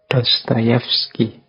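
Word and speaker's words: Dostoevsky: kurang lebih seperti itu kalau tulisannya kadang-kadang Ada yang mengecanya dostoevski tapi membacanya biasanya Ya seperti tadi dostoyevski baik beliau ini filosuf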